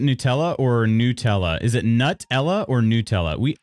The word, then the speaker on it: Nutella: I usually say Nutella. So it's kind of a nuh. I don't really put much of an emphasis. I don't know, the T kind of goes in the second syllable for me.